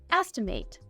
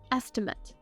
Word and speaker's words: estimate: As a verb, this word is pronounced estimate. It can also be used as a noun. In this case, we'd say an estimate.